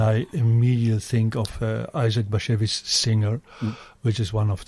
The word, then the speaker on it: Bashevis: It's Bashevis. And it's not hashish.